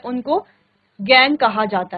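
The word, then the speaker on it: gangue: उनको गैंग कहा जाता है। Spelling ji ए एन जी यू E spelling थोड़ा सा डिफरेंट है। कहा जाता है गैंग।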